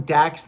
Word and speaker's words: Dax: who they were calling dax the axe you know it took me a while to realize dax rhymes with acts of demolition and cash rhymes with